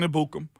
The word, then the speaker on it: Ebukam: It's in the pronunciation guide. It's Ebukam.